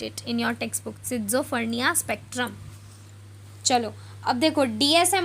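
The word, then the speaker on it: schizophrenia: ये जो वर्ड आपको दिख रहा है ना, ये वाला टॉप मोस्ट पे है, या दिस वन, तो इसको हम प्रोनाउंस करेंगे सिज़ोफ्रेनिया। क्या प्रोनाउंस करेंगे बच्चों?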